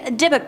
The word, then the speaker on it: Dybbuk: Next up we have the Dybbuk box, or Dybbuk box. Depending on who you ask, the pronunciations are different all over the interwebs.